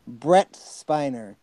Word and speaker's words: Brent Spiner: for what I heard he mispronounced the last name it was Brent minor it's black brent Spiner oh there's no so yeah